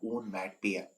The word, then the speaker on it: onomatopoeia: इसका जो प्रोनाउंसिएशन होता है वो भी आप ध्यान रखेंगे। इसका प्रोनाउंसिएशन होता है ओनमैटोपोइया।